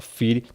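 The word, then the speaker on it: φυλαί: Tá escrito aí fulai, né? Mas se pronuncia-se na fala fili.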